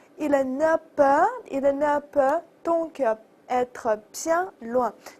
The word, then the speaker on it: donc: 那给一个词儿叫做 donc，注意 c 要发音 donc，因此怎么样。